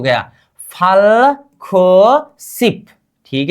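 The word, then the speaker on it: 구: हमें क्या करना पड़ेगा ख। ख प्लस ऊ इक्वल टू क्या होनी चाहिए खु। क्या खु। इसका उच्चारण क्या होगा अब खु।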